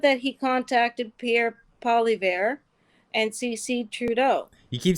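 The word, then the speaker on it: Poilievre: is real he said that he contacted Pierre poliver and CeCe Trudeau you keep saying so it's polyev I I I had to do it because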